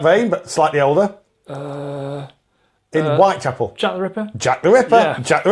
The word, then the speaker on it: Whitechapel: our work used to take us down to Whittaker Apple Whittaker Apple yes is Whitechapel pronounced by nice your sat-nav will Chapel and